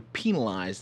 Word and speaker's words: penalized: of the game, you're penalized the number of points on... How did you say that word? Penalized. That's how you say it. Like a penal colony.